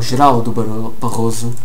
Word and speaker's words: Geraldo Barroso: Geraldo Barroso is going to die, or Geraldo Barroso in Portuguese, if you want to say it correctly.